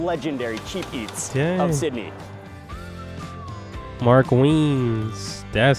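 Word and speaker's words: Mark Wiens: that's his name I said his I said Mark wiin I don't know never heard his name being pronounced that look like Kebab meat kind of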